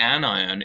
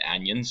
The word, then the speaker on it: anion: call those cations and anions, just like an onion is not an on-ion, right? We pronounce that onion, even though this is pronounced an ion, not an anion.